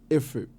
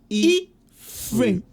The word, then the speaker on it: Ephraim: The British pronunciation. Ephraim. Not Ephraim. The name is Ephraim.